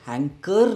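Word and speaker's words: hanker: हैंकर दोस्तों, इसकी pronunciation है ना, ऑलरेडी इसमें एंड में आर है पर इसकी प्रोनंसिएशन हैंकर नहीं है, इट इज हैंकर। हैंकर are silent हो जाता है, हैंकर हैंकर, जैसे हैंकर चीफ।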